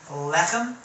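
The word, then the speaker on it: לחם: Lechem is bread or food, and of course it's a seglet noun, so the emphasis is on the first syllable, lechem.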